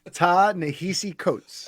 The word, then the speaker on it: Ta-Nehisi Coates: And I'm gonna pronounce his name wrong. Can you say the author's name again? Ta-Nehisi Coates.